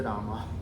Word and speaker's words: Rama: See, if you, depending upon in which language you are speaking, if you are speaking Sanskritam, you have to stick and then say Rama. You cannot say Ram Gacchati.